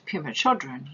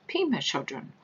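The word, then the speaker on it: Pema Chödrön: When you quoted Pema Chodron, you said Pema Chodron. The correct pronunciation is Pema Chodron.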